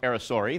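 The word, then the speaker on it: aracari: read it spell it's spelling Air carry but pronounced arisori these are all primarily fruit eaters these guys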